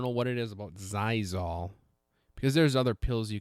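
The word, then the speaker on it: Xyzal: another thing too is a zyol zyol uh it's spelled x y z a l uh Z why there's an X in there I couldn't tell you it's like a medicine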